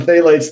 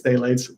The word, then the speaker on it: phthalates: little little study on phthalates there i'm not even sure if i'm pronouncing that correctly i think it's phthalates i think the p is silent i believe um and uh let's